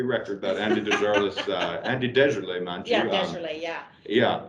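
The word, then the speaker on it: Desjarlais: He was always Deserlet, which made sense, and Right. that is the correct pronunciation.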